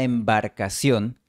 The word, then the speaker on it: embarcación: esta embarcación, La vocal A fue omitida por completo. Adiós, vocal A. Que el español te acompañe. La pronunciación que recomiendo es esta embarcación, con una transición suave entre vocales.